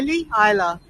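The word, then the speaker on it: Islay: Queen Victoria's favorite dog Isa I Isa it's spelled is l y come on iy my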